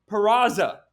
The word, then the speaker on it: Peraza: right back into shortstop what's his name say his name Peraza oh Oswald Perez oh you got it right because there's an Oswald